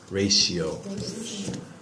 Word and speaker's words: ratio: the T sound but when you see the word our API Oh see for some strange reason that I have no idea why the pronunciation changes to like an SH sound ratio a ratio the difference is ratio